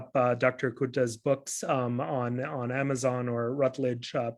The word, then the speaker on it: Curta: I thought it was Curta, and he corrected me because I thought, C is cha or tsa, but it's not, and so fascinating, linguistic, lesson here.